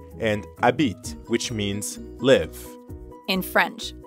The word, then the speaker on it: habite: By the way, habite technically starts with an H, but since the French H is silent, we treat it like a vowel.